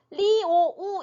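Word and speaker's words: 六: 다시 한번 설명을 드려요 정확하게 중국어를 발음을 하려면 자 아하고 유 사이에는라는 음이 추가된 것처럼 소리를 내 주셔야 정확한 발음이 됩니다 그래서 리오우 이렇게 써 놨죠려려네 오 발음이 막 강하진 않아요 약간 스쳐 지나가듯이 스쳐 지나가듯이네 없지만 있는 것처럼 이렇게 소리를내는 거예요 리 이렇게 되는 거고요지지지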